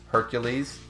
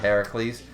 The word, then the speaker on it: Heracles: It's the Roman pronunciation with the U, not the A.